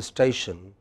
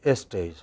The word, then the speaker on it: station: and i come from we don't say station we say estation we say is cool we say esports we add an extra e okay a lot